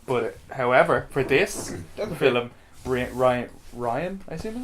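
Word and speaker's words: Rian: But however, for this film, Ryan, I assume his name is Ryan? I want to say Reen because that's how it's spelled, but I think it's Ryan Johnson revealed that Fisher helped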